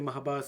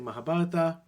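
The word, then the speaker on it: Mahabharata: just some people say Mahabharat some people say mahabarata um it's it's with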